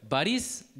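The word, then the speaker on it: Борис: 영어식으로는 보리스라고 읽지만 이게 이제 바리스라고 합니다. 강세가 I에 있기 때문에 바리스 해서 앞에가 O가 아가 되는 현상을 아까니의 현상이라고 합니다.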